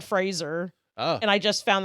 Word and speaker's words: Fraser: I get names way I've been like mispronouncing Brendan Fraser forever I thought it was Frasier it's Brendan Fraser oh and I just